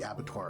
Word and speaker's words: abattoir: And across all of that to the north, the massive structure known as the Abattoir of Salt. Abattoir of Salt? I don't know how to pronounce that word.